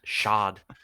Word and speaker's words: Shad: I think it's Shad? pronounced Shad.